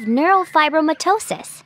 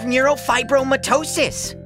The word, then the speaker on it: neurofibromatosis: it's because I have neurofibromatosis huh you say it like Nero five bro mitosis it's called NF for